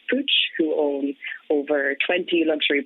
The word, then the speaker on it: Puig: my current role with pooch so it's puig most people don't know how to pronounce it i was included